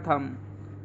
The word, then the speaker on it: thumb: इसी प्रकार थम, हम बोलते हैं ना थम हमारा अंगूठा, इसको हम थंब नहीं बोलते।